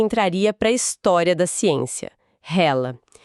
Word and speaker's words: HeLa: Eram as primeiras células humanas imortais cultivadas e ganharam um nome que entraria pra história da ciência, hela, que se pronuncia hila, né?